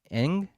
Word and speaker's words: Ng: Marlin Kim I I I'm not going to pronounce her name right Kim Ang there you got iton right um said that Anderson